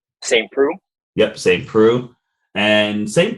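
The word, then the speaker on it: Saint Preux: saint how do you say his last name saint prue yep same crew and saint prue came out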